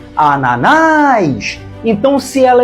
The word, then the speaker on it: Ananás: receba o assento gráfico Ananás tem três sílabas e a mais forte é a última Ananás Então se ela é